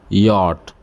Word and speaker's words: yacht: yacht, a pleasure or racing board that rhymes with caught.